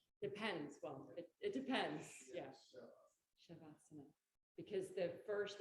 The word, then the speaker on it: Savasana: But in Sanskrit, the S is pronounced sh. Depends. Well, it depends. Yeah. Shavasana.